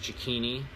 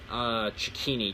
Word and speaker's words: Cecchine: of my first of my last name or how you pronounce the first part of checkpoint news so it's c ec